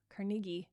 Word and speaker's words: Carnegie: I've studied some crazy successful people recently, like Henry Ford and Andrew Carnegie, or Carnegie is how they say it in Scotland, just in case you didn't know that.